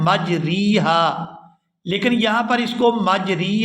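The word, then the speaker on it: مجريها: लफ्ज है कि जिसको इस तरह से पढ़ा जाएगा मजरेहा यहां रा को मजरी हा नहीं पढ़ेंगे यहां पर इस रा को जेर की तरफ झुकाए लेकिन आधा झुकाएंगे यहां पूरी जेर जो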